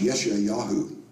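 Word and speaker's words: ישעיהו: Prophet this is another Prophet his name is pronounced yesh yahu in Hebrew we pronounce it Isaiah as recorded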